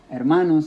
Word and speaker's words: hermanos: word brothers at Manos hermanos now has three syllables hermanos but the rule is still telling me to put it on the second to last not on the first one because now the first one is air okay so that's why